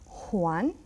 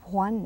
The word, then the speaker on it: Juan: to the J juanan see how I I pronounce that Juan now in Madrid they may Sayan very strong Juan and in my country Puerto Rico and other place Hispanic places we will say Juan one is like Hotel